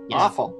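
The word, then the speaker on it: offal: what is that word you pronounce it awful okay awful oh it's like all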